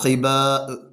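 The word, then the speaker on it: ح: അക്ഷരത്തിന്റെ ഉച്ചാരണം നമുക്ക് പരിചയപ്പെടാം നമ്മുടെ നമ്മുടെ തൊണ്ടയുടെ മേലറ്റം മധ്യത്തിൽ നിന്നാണ് നമ്മൾ എന്ത ഉച്ചരിച്ചത് ഹ ഉച്ചരിച്ചത് തൊണ്ടയുടെ മുകൾ ഭാഗത്തു നിന്നാണ് ഹ ഉച്ചരിക്കുന്നത് അവസാനം അടിഭാഗം നടുഭാഗം മുകൾഭാഗം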